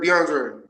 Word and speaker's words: DeAndre: is it DeAndre or DeAndre DeAndre you you pronounced it right DeAndre DeAndre uh unbeaten heavyweight rank 15 uh